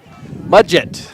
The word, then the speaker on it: Mudgett: We're going to wait for pronunciation. Second baseman, number 2, Seth Mudgett. Mudgett.